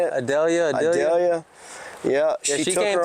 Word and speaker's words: Idalia: Thanks to Idalia? Yeah. Is that how you say it? Idalia.